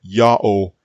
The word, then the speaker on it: Ya'oh: of a doubt that yao is the only correct way to pronounce the tetragrammaton it's because this pronunciation